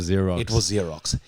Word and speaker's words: Xerox: her name wrong no i said what is x rocks and it was xerox but my mind as soon as i said x rocks i knew it was zero it was xerox like and it was